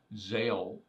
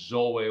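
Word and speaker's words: ζάω: The word live is the Greek word zeo. Some people say it's zoe. Well, zoe is the noun pronunciation of that word. This is the verb pronunciation.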